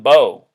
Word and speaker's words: Beau: Biden had a son his son Beau rhyming with Joe notice that beau biden